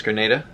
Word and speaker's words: Grenada: I believe it's Grenada, not Granada. That's how you pronounce it as well.